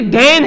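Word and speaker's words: دین: ये देन है, लफ्ज देन है। इसी तरह से एक लफ्ज लिखा जाता है जिसकी प्रोनाउंसिएशन तलफ्फुज जो है वो दीन है, दीन है।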